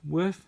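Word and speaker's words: Wirth: the glare like anyway this Billy worth worth that's how you say it anyway James peace love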